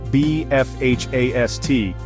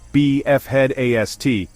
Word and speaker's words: BE FHAST: The pronunciation question be fast is pronounced B FH A S T with emphasis on the F and H being separate components. In training, we recommend saying BF head A to ensure the headache component isn't missed.